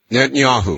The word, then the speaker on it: Netanyahu: answer that Benjamin Yehantata, I'm not still can't pronounce his name. Could you give it to me? Netanyahu.